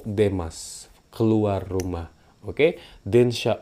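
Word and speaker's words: を: Oke, densha o orimas, keluar turun kereta dan seterusnya minasang. Mudah-mudahan bisa dipahami nih ya partikel wo minasang, tapi dibacanya o sih gitu.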